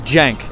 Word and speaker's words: Cenk: Oh, it's Cenk.